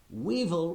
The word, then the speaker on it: weevil: Weevil. Weevil rhymes with evil.